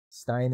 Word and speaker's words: Stein: Stein is the correct pronunciation. Steen is wrong.